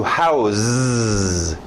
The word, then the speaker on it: house: Existe o verbo to house. Eu mudo esse som no final. A escrita não muda.